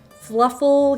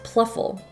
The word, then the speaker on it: Pluffle: that is the fluffle make sure I'm pronouncing this right fluffy it's a pH fluffle human dog bed oh no it's pluffle Pluff pluffle human dog bed so this thing